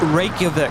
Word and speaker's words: Reykjavik: It's pronounced Reykjavik.